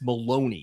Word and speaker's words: Maloney: Is it I think it's Maddox Maloney is how you say the last name.